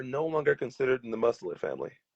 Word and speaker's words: mustelid: Um, Skunks are no longer considered in the mustelid family, Right, which at the time we thought they were.